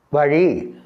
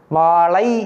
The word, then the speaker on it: வாழை: செய்கின்றார்கள் சிலர் அப்படி எழுதக்கூடாது வாழை மரம் அல்ல வாழை மரம் இந்த ழை தான் இந்த ழவுக்கு பதிலாக இந்த ழதான் போட வேண்டும் அப்படி எழுதும்போது ழ என்று எழுதிவிட்டு நீங்கள் பேசும்போது வாழை என்று பலரும் அந்த தப்பை